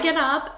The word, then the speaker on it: get up: Okay, and notice the sound. Get up, I get up, get up. Now, why is this happening? Because in American English, when we have a T between two vowels, we turn it into a D.